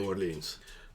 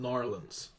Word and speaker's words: New Orleans: New Orleans. Narlands. New Orleans. Us locals call it Narlands.